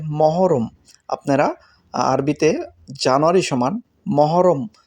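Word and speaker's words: محرم: জানুয়ারি আরবিতে হবে মহররম অনেকেই আল মহরম বলে থাকেন কুয়েতের তবে আরবিতে উচ্চারণ হবে মহররম আপনারা আরবিতে জানুয়ারি সমান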